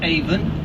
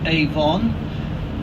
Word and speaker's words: Avon: Aven first of all you notice that I pronounced it even not Avon Avon is a cosmetic company this is the